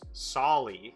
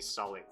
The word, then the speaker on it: Solly: I beg to disagree, because my name is Solly with an O, which is one letter off from Sally and Silly and Sully, but everyone calls me Sully if they don't know my name.